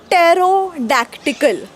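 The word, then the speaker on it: pterodactyl: आणि सगळ्यात भयानक म्हणजे टेरोडक्टिकल तो एक उडणारा डायनासोर आहे लहान मुलांच्या कार्टून मध्ये वगैरे असतो हा यांची स्पेलिंग ना पीने का सुरू होतीय जर बोलायचच नाहीय पी तर या पी च कामच काय तिकडे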